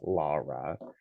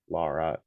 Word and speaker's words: Laura: You can find her on Blue Sky, Instagram, Twitter, and Mastadon's Wandering Shop at pronounced Lara. Lara all you.